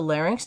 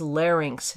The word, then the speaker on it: larynx: The larynx is the protective cartilage that houses the vocal folds. The correct pronunciation, by the way, is larynx, not larynx.